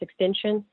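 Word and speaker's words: XXXTentacion: say about the rapper his name is it's pronounced extension and I remember the first time I heard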